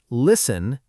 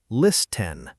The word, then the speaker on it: listen: Listen is spelled l i s t e n, but we say listen. The T just vanishes.